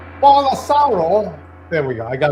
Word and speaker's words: Bolsonaro: Bolsonaro. There we go. I got it right. So anyway, Bolsonaro.